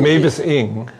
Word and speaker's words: Mavis Ing: It's Ira's in there, Mavis, how do you pronounce it? Mavis Ing.